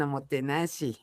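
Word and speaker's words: おもてなし: Y otro de los conceptos que estás trabajando es el diseño homotenashi. Seguro que lo pronuncio mal. No, no, no está muy bien Omotenashi.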